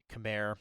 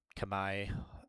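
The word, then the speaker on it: Khmer: Uh, for winter Zeus, they banned Turks, Dravidians, Camair or Kami, uh, is I think technically how it's supposed to be pronounced, but no one really wants to hear that, I don't think.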